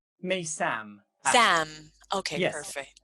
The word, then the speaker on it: Meysam: pronouncing your name right? Maysam, actually.